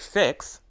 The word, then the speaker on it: fix: one letter the word fix ends with the single letter x but X is pronounced as two sounds six consonant groups at